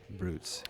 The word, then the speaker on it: Brewts: this this mix and it is brutes and it's spelled beat go ahead BR e WTS brutes and they're based out of Grand Rapids Michigan